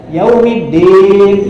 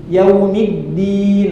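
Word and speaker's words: يَوْمِ الدِّينِ: buah tin ntinya ya Nah ini hati-hati addin pakai Dal da coba da da da nah gitu yang tepat da orang Sunda banyak yang kurang tepat banyak yang bacanya Da nah gitu yaumiddin nah nah itu dikatakan kurang tepat kurang tepat ya Meskipun mirip tapi kurang kurang tepat ya sebisanya sampai seperti tadi yaumiddin nah gitu di mana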